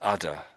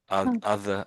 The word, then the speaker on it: other: Maybe this the udder other and udder.